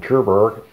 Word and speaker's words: Tuborg: Nicht amerikanisch ausgesprochen, Tuborg. Aber hat ja auch nichts mit den Tudors zu tun aus England.